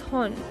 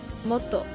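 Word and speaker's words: 本: By itself, it's hon, but when combined with other kanjis, it can also be pronounced moto.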